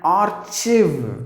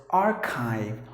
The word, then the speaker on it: archive: Okay, so the next word, some of the people have a tendency to pronounce the word as archive, just because there is CHI, chiv, CHIV, they pronounce it as chiv. No, please don't do that. The letter E is silent, and then you have to silence the letter R as well. So you have to pronounce the word as archive, archive, archive.